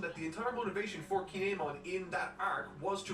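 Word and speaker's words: Kin'emon: video i mentioned that the entire motivation for kinemon in that arc was to rescue hey let's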